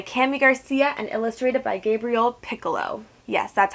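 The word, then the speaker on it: Gabriel Picolo: now Raven by kami Garcia and illustrated by Gabriel piccolo yes that's how you say his name I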